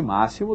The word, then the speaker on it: máximo: sumbe x nem sempre às vezes o x tem som de que por exemplo máximo não é esse máximo tem som de 2s não é como se tivesse sido escrita a palavra com 2s né máximo será que acabou por